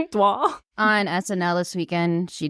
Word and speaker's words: Dua: I guess Dua Lipa, right? That's how you say it? Dwa. Dwa.